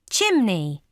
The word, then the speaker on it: chimney: Some words end with the letters EY, sounding E. Chimney. This is a deep-sea chimney.